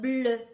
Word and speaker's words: bleue: Un tricot bleu, une robe bleue. Now, when I have a vowel at the end, I'm not showing anything in pronunciation. E after a vowel doesn't really affect the pronunciation, but I still write that E at the end.